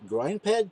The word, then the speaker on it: Grindpad: it to say properly I suppose a hard G like Klingons right for for our